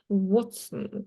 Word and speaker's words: Watson: Watson читается Watson на английском.